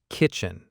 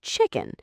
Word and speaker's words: kitchen: It needs to be a very clear, distinct K sound, like k-chin. Right, because if you don't start with that strong K sound, it can easily blend into something that sounds a lot like chicken.